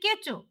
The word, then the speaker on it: কেঁচো: পিপাসা thank you মা কিন্তু ওইটা কেউচো না ওটা হবে কেঁচো বলো কেঁচো বলো কেঁচো